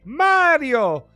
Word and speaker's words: Mario: So Quinn Taylor, come on, your Italian, pronounce Mario properly. Excuse me, Mario.